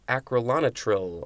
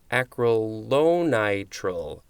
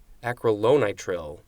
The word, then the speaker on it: acrylonitrile: and adhesive and adhesives next is acrolonatril oh now we get this word that i couldn't pronounce acrylonitrile acrylonitrile uh noun from 1893 a